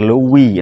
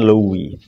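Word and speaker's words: Louis: Di mana Kaisar Lewi 16? Luis ya cara bacanya Li.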